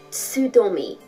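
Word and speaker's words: Tsudome: I can never get that syllable right. Tsudomi. T-S-U in the Roman alphabet.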